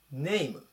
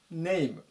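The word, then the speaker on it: name: ます 103 番ネムネイム名前ですねでこれ発音注意なんですけども伸ばさないでいっていう風に入れて読みますネイムネイムあとは動詞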